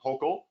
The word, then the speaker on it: Hochul: And now, the new acting governor, the new governor, Kathy Hochul, rhymes with local, I learned recently, she started moving on it.